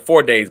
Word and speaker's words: Fidesz: It's like 4 days, but it's spelled Fidesz.